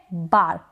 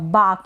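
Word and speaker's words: bark: क्या है बार्क अब अब यहां पर ये जो बीच में आर आ रहा है ना इसको अगर आप प्रोनाउंस ना करें बिल्कुल साइलेंट रखें बोले ना तो भी बिल्कुल करेक्ट प्रोनंसिएशन होगा इसका बाक यानी इसको बाक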